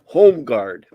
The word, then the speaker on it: Holmgard: We would, at least I would pronounce it Holmgard. Well, the L would be present. In the surname. In the surname Holmes, for us the L is silent.